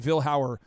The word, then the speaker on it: Vilhauer: Are there people in your extended family that pronounce your last name differently, or is everybody universally agreed that Vilhauer is how we say it?